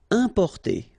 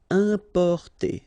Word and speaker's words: importer: Importer, okay, I-M, then a consonant, so it's the nasal un, importer, importer.